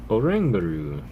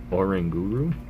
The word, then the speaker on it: Oranguru: That's Orangaru. And I've have heard it said Orangar Oranguru. Um so let me know which which side you're on.